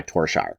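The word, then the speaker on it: Tore Skeie: North Sea Empire by Torshire. And I know the pronunciation doesn't match the spelling, but I swear that's how he chose to say his name in an interview, so that's what I'm going with.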